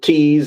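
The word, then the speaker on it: Thies: I pronounce it Tease.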